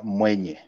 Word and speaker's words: Mwenye: My growing up name is Mwenye, which is spelled like M-W-E-N-Y-E.